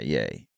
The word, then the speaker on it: Ye: yeah, yay. Yeah, Oh, exactly. I thought it was Yee. Oh, I Or may Yee.